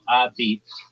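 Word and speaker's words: apizza: They say New Haven pizza, locally called a pizza, pronounced a beats, is famous for its thin, chewy, and intensely charred crust, baked in high brick ovens.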